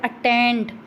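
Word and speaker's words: attend: फिर आगे वाला वर्ड है अटेंड, अटेंड, अटेंड, टेंड क्या है, टेंड को लॉन्गर बोल रहे हैं, तो यहाँ पर क्या आ जाता है, स्ट्रेस आ जाता है सेकंड सिलेबल पर।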